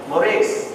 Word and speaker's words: Moraes: I told him my surname, Moraes, which is how Ranjit and Nandini were pronouncing it. It's more an anglicized way of pronouncing it.